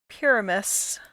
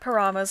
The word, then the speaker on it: Pyramus: Let's try Pyramus. I believe that's how it's pronounced. Not Pyramas like pajamas.